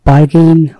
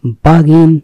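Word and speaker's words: bargain: আছে বেয়াফুট মানে হচ্ছে খালি পায়ে নগ্ন পায়ে বার্গেন বার্গেনিং আসলে এর উচ্চারণ হচ্ছে বাগিন বাগিনিং বাগিন মানে দর কষাঘুশি করা চুক্তি করা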